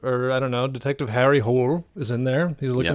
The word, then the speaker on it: Harry Hole: I watched the new like Detective Hole series cuz I was like, "It's got to be a pronunciation thing. It's got to not be that." And then immediately they're like, "Harry Hole?" And I'm like, "Okay, it's not."